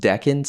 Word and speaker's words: decans: But deacons are just 10 group 10 degrees and they're called they're pronounced deans and not deacons.